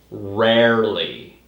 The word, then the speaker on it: rarely: It's rarely. You have to separate the word rare, which is like uncommon, and then add the ly at the end.